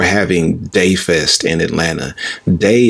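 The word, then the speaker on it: DAI: day Fest in Atlanta day is spelled D Ai and it stands for disruptive authentic inclusive day Fest is like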